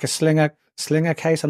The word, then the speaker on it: Sliger: So that it's I think Sliger, it's pronounced Sliger. Yeah. I could be wrong.